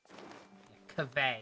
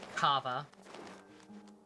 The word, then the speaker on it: Kaveh: Kaveh. Is that how they said it? I thought it was like Kava. For all I know, that's the more correct one.